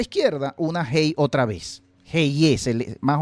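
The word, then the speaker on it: אהיה: Y que se pronuncia más o menos como una H, Ehyeh.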